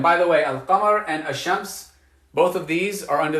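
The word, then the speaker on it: الشمس: to pronounce that land we're not going to say al-shamps we're going to say hashems we're going to say we're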